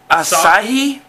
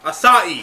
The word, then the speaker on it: Asahi: And what we got for you today is something very foreign, very unusual, like, I think it's pronounced Asahi. Asahi.